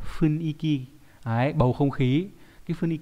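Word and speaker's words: 雰囲気: hay là điều hòa Funiki Funiki nhưng mà không phải đọc đúng nó phải là phuniky cái bầu không khí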